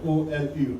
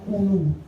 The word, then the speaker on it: Oulou: Hein, Nigérian là c'est O-L-U, alors que moi c'est O-U. In Nigeria, it's spelled O-L-U. Eux c'est Oulu. My spelling Et puis is moi c'est Oulu. O-U-L-O-U. Their pronunciation is Olu, and I'm Ulu.